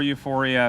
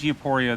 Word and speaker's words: Euporia: At number 5, we have Euporia, or Euphoria, if that's what you want to call it. I know some people mispronounce it, but it's mispronounced a lot, so I'm just going to call it both.